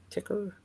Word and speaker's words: TIXR: It's like here, let me get it pronounced right. It is Ticker.